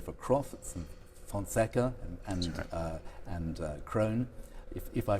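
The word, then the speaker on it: Krohn: for Taylors and for Crofts and Fonseca and Krone, if I pronounce that correctly.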